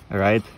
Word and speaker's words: Write: компании Дельта называется она Right Balance и вот то о чём я говорил Игра слов английское слово точно также произносится То есть это баланс письма или баланс или правильный баланс у этого у этой